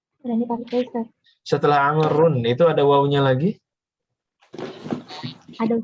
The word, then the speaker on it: عمرو: Dan bacanya Amrun pakai tanwin.